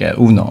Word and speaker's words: Uno: Yeah, it's spelled like UNO, and in English it's like Uno, but in Swedish it's Uno.